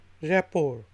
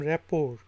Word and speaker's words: rapport: उसके स्पेलिंग हैं RAPPORT, रैपोर। इसमें जो टी है आखिरी वो साइलेंट है, तो इसको हम रैपोर पढ़ते हैं।